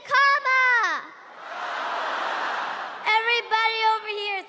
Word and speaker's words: Kamala: First you say comma like a comma in a sentence. Then you say la like la la la la la.